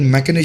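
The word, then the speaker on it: machination: जगह एशन आ गया तो मशीनेशन लिखा हुआ बोला जाता है मैकन और वैसे ही मैनर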